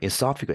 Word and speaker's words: esophagus: I'm thankful for having a healthy, 그다음에 이게 esophagus라고 좀 어려운 발음인데 이게 저도 발음이 좀 esophagus, 액센트가 여기 있더라고요.